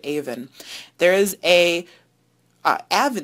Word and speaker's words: Avon: you're from rochester and you probably pronounce that avon but in southern england they pronounce it even there is a uh